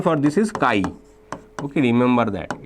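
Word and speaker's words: chi: pronunciation for this is Kai okay remember pronunciation for this is not X it's Kai okay now we can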